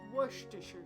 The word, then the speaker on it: Worcestershire: Worcestershire sauce. And we'll roll with it. We got it now. We know how it's pronounced.